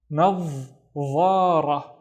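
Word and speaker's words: نظارة: So I start with na and then also pronounce the dha with no vowels. Nav. And then dha, ra. Nadhara, nadhara.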